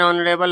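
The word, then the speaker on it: honourable: ही is dash ऑनरेबल मैन एन ऑनरेबल होगा। है ना? एन ऑनरेबल क्यों होगा? है ना? तो औ से उच्चारण है। भले ही एच से शुरू है लेकिन यहां औ से उच्चारण होता है।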